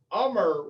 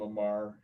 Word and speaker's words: Amar: So, Ummer, which is spelled Amar. And I work with an idiot that calls him Amar.